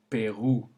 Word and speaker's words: Pérou: However, if it combines to make OU, then the sound it makes is OU, as in le Pérou.